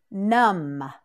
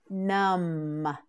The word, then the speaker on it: numb: onto the stage nud num num num you try it num that's right the B on the end is silent num say it one